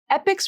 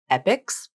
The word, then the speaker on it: epochs: Notice how epochs has the CH spelling, but here's another word where the CH makes the K sound, not the CH sound.